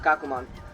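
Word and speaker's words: Ikkakumon: kakuma yeah i remembered it that's how you pronounce it kakumon so ikakumon is a bit different he's really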